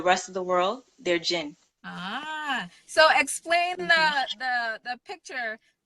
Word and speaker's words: Djinn: Because I'm having a little trouble pronouncing it. It's Djinn. Just Djinn.